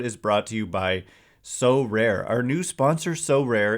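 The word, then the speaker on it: Sorare: that this episode is brought to you by so rare our new sponsor so rare is a revolutionary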